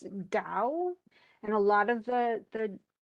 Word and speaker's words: Tao: the words sound, but it really isn't Tao, it's Dao.